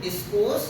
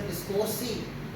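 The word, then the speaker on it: discourse: तो जो डिस्कोर्स है, जिसको हमारे अकादमी से डिस्कोर्सी बड़े अंदाज में कहते थे, डिस्कोर्सी, डिस्कोर्सेज है वो, लेकिन वो अच्छा प्रोनाउंसिएशन करते थे, डिस्कोर्स.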